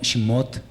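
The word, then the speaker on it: שמות: Lo mismo Shemot. No es una vocal muda, sino una vocal muy corta, pero se pronuncia.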